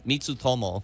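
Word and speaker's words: Mitutoyo: Japanese brand yeah it's uh how do you pronounce it me uh mitu Tomo okay I would have never pronounced it that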